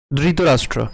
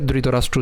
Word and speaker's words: ধৃতরাষ্ট্র: তো যদি দ থাক থাকতো তাহলে আমাদের উচ্চারণ কেমন হতো? দৃত রাষ্ট্র। ধৃতরাষ্ট্র। কিন্তু এখানে রয়েছে কি? ধ। তাহলে ধ এর উচ্চারণ এখানে হবে কি? মহাপ্রাণ। অর্থাৎ দৃতীরাষ্ট্র। এখানে অবশ্যই কি করতে হবে? একটু জোরালোভাবে উচ্চারণ করতে হবে। আমাদেরকে ধৃত রাষ্ট্র উচ্চারণ করলে হবে না। তাহলে উচ্চারণ কেমন হবে? ধৃতরাষ্ট্র।